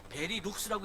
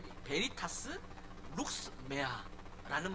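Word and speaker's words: Veritas Lux Mea: 여기 보면 어 베리룩스라고 읽으면 안 돼요. 그 첫 번째 거를 같이 읽게 돼. 베 베베리타스 룩스메아라는 말이 쓰여져 있습니다.이 베리타스 룩스메아 이것은 뭐냐면 어 빛을 향하는 거예요.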